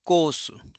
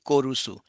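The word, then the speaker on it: コース: So it will be kosu kosu. It's it will not be kusu. It will not be korusu.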